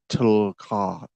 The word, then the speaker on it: TLCC: It's pronounced Tulka.